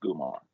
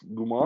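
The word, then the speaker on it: comare: r e but pronounced gumar so it throws me on it's it's starts with the c but it's pronounced gumar with a hard G yes that's dope I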